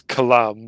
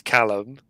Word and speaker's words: Callum: He says it like as Callum, but the proper pronunciation is Callum, and he could never say it properly.